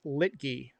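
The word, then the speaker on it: Luetge: How do you pronounce Litge? It's Lit. Lucas Litgee.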